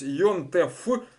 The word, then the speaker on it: יום־טובֿ: Дер Йонтев Ханике. Можно сказать, вот здесь вот вместо вейс конечное, как ф произносят, это на прононсе. То есть Йонтеф, ошибки не будет.